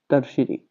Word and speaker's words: tertiary: इसकी स्पेलिंग थोड़ी अलग होती है, तो इसको हिंदी में आप जो बोलते हैं वो आप ऐसे बोलेंगे, टर्शियरी।